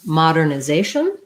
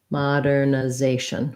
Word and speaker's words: modernization: this and then we have a request for modernization this one follows our rule for second to last syllable stress so basically almost i think any